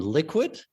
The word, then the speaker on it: LQwD: So, and our Liquid is spelled LQwD, the same as our Toronto Stock Exchange ticker. And so a lot of people just call it, hey, LQwD. We call it Liquid, but we're Liquid FinTech,